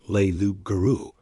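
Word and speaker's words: loup-garou: But Bill told them learu, which he pronounced leu guru, could be anything, anything at all.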